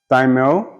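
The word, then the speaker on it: thymele: Thymel, T-H-Y-M-E-L-E, or the altar is at the center of the orchestra.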